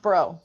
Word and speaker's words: Braud: Well, Bro, it's pronounced Bro, but that's okay. Yeah, like BRO. Oh, so it's French. Yes, the D silent.